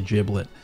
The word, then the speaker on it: Giblet: I think I think it actually is pronounced with a like a jib sound not not a Gibb sound I think it's actually giblet freeo play giblet uh